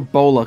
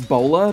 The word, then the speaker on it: Bowler: he says he likes bowler because his name sounds like a hat which is why I